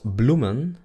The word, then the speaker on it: bloemen: Luego tenemos bloemen, bloemen, bloemen. La última E es muda.